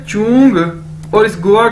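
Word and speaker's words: 中: ये देखें, next word है हमारे पास ZHONG, चोंग, चोंग, चोंग। कैसे बोलेंगे इसे, जैसे चोंग, चोंग, ZH यानी चे। चाइनीज में ZH को चे के तौर पर प्रोनाउंस करते हैं, यानी चोंग, चोंग।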